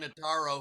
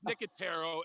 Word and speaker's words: Nicotero: an audience member here named frank notaro who i believe was the host of of the show and not freaking no no no no it's nicotero it's not taking care